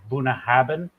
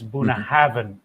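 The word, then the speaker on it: Bunnahabhain: see uh BH in that Gaelic so everybody pronounces it Buna haben when it's Buna Haven like a V so there's weird pronunciation and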